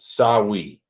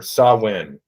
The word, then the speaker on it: Samhain: So historians agree that a Celtic autumn festival called, and I believe it's pronounced Samhain or Samhain, but it's spelled Samhain, Samhain.